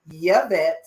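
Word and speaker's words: Yvette: high five because that's the real way to say it we pronounce the why my name is yavette and i am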